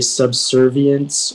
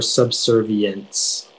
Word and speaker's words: subservience: just a slight one it can be a subservience or subservience okay subservient may i